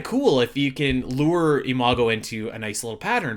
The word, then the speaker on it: Imago: And that is, I believe how you say it is Imago. For everybody that doesn't know, Imago, which sounds a lot like Iago, speaking of Disney, sounds like the parrot from Aladdin.